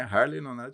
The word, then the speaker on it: Harley: favor de para quem gosta de moto não tem erro então é Harley Davidson é Harley Que bacana muito bem-vindo